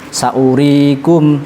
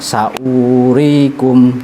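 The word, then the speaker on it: سأوريكم: Jadi cara bacanya saurikum darul fasiqin. Ini pentingnya ngaji. Kalau kita tidak ngaji, hanya belajar tajwid saja, moco-moco sendiri, mungkin akan dibaca panjang saurikum darul fasiqin.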